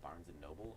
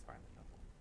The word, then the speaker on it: Barnes & Noble: Mills that reminds me you guys say Barnes & Noble or Barnes & nobl Barnes & Noble it's Barnes and Noble I say it wrong they bar the